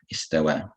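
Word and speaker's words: استوى: But even without that symbol there, you should know that you read this as an alif and not as a ya.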